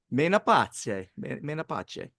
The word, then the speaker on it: Menapace: Menapace. That's how you would say it in Italian, assuming he is an Italian national.